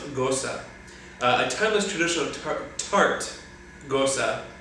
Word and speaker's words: gose: So it's pronounced gose.